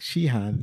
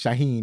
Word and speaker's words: Shaheen: Arabs and uh Jack Shihan he was like shahan I'm saying it wrong I keep saying it wrong I think it's Shaheen right and so Jack Shaheen